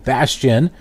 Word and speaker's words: Bastian: petition asking postmates CEO Bastian kind of rhymes with bastard layman as in layman